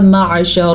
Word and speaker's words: معشر: اوپر کھڑی زبر ہے۔ عین کے تلفظ کا خاص خیال رکھنا ہے کیونکہ یہ عین ہے، حمزہ نہیں ہے۔ اکثر لوگ اس کو پڑھتے ہیں یا معشر الجن، یعنی کہ معشر جو ہے وہ حمزہ کے ساکن کے ساتھ ہے، یہ ہے عین، تو ہم عین کا خاص خیال رکھیں گے۔ عین حلق سے نکلتا